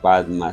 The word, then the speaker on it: Padma: El mantra que yo recomiendo a mis estudiantes es: Om Aum Bakra Guru Padma Siddhi Hum, que los tibetanos pronuncian Om Ahum Bensa Guru Pema Siddhi Hum.